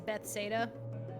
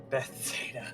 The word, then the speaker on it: Bethesda: I will I used to be pronounce it as Bethsaida. Bethesda. Well, I used to read it that way. I don't know why. I heard somebody refer to it as Bethuda one time, and I was like, The weirdest